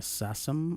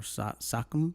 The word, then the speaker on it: SACEM: Se deletrea SACEM. También se le dice SACEM o SACEM, que lo puede pronunciar de diferente manera.